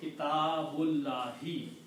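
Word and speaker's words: كتاب الله: But when you read together, you do not pronounce this alif. You say kitabullahi.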